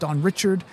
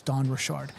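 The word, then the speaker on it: Dawn Richard: kind of some debate this morning about how her name is pronounced Don Richard. Um but when you hear her pronounce it, she says her name is Don Rashard.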